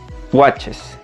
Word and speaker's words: watches: Se pronunciaría watches, watches.